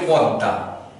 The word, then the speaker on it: পদ্মা: সাথে কিন্তু ম আছে, এই ময়ের উচ্চারণ কিন্তু আমরা করি না, পদ্মা বলি না, কিন্তু আমরা বলি পদ্মা, পদ্মা বলি।